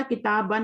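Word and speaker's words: كتابًا: इस अलिफ को पढ़ा नहीं जाएगा, यही तो बता रहे हैं. एंड अलिफ विच इज नॉट प्रोनाउंस्ड, ये नहीं प्रोनाउंस किया जाता, लिखा जाता है सिर्फ, पढ़ा किताबन ही जाता है.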